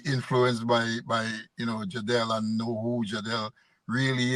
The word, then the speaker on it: Jadel: okay folks it's jel j or jel mly pronounced as jadel but a lot of people if they want